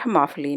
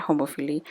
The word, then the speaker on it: homophily: I obviously mispronounce this word. It's called homophily, not homophily. Homophily is in terms where it means homo means together and phily means friendship and love.